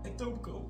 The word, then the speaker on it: Etobicoke: Die KE spreek je niet uit. Hoe dan? Etobicoke.